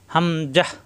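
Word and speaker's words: هَمْزَة: এটা লাম এটা আলিফ হামজাহ হামজাহ হামজার উচ্চারণ দ্রুত কোন টান হবে না হামজাহ হামজায় জবর আসলে তখন জ এর মত হবে না তখন হবে আলিফের মত অর্থাৎ আলিফে জবর আসলে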